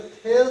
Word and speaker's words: Thales: या अथवा मतलब होता है इसका दूसरा भाषा में, इसी का नाम है थेल्स प्रमेय। थेल्स प्रमेय का जो स्पेलिंग है वो इस तरह से है, THALES apostrophe theorem, THEOREM theorem.